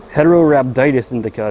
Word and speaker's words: Heterorhabditis indica: I believe it's pronounced Heterorhabditis indica to be specific, but you know, if you know H.